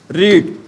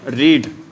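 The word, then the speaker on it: read: रीड। ये भी second form भी क्या होती है बेटा? थर्ड फॉर्म भी क्या होती है? एक्चुअल में बेटा इसको रीड ना बोलकर रेड रेड बोलते हैं।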